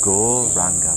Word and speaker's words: Gauranga: Mantra we'll be adding is Go Ranga mantra, divided into 4 syllables. Go, Ra, Ang, Ga. So as we inhale, we say the mantra Go Ranga in our mind, and